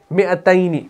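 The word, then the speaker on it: مِائَتَيْنِ: ہمارے پاس مئتین, ایسے مئتینی. ٹھیک, حالانکہ یہاں پر میم کے بعد آپ دیکھ رہے ہیں الف ہے, لیکن تلفظ کے اعتبار سے ہوگا یہ ایسے مئتینی, ایسے.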